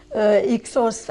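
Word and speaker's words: Hyksos: qu'ils ont appelées Ixos à la prononciation française, ou Cassid pour l'Orient,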